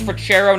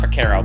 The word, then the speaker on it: Freccero: they mispronounce my name it's forero not foro but but that low